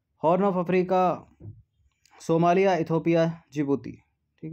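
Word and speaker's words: Djibouti: जिबूती में जो है डी साइलेंट है, ठीक है, जैसे नॉलेज में के साइलेंट है।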